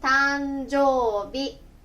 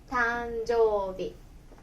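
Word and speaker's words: 誕生日: ですから、誕生ね、発音は B と読みます。誕生日、誕生日。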